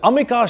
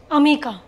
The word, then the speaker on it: Amika: you pronounce your name Amika in Bengali how do you say it Oma Oma there you go let's